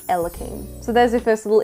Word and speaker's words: Elaim: All I had to do was get rid of the first I and change the pronunciation to Elim.